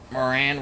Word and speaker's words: Moran: Moran be like Moran rhymes with Duran.